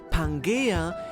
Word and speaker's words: Pangaea: Even the term Pangaea, or as it is more correctly pronounced, "pan-gaia", is derived from "Gaea",